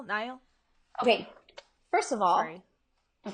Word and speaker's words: Niall: Neil? Niall?